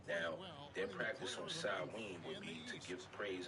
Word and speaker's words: Samhain: Some may disagree with that and say it starts earlier, but it's actually a Wiccan or witchcraft holiday called Samhain. It's actually pronounced Samhain, all right?